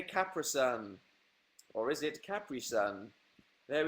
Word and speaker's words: Capri-Sun: Everyone's saying Capri-Sun now. It's pronounced Capri-Sun, guys.